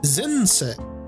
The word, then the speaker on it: 前世: Zense. Oh, I was way off. Okay. Zen is how you can pronounce that, as well as mae is the individual kanji's pronunciation.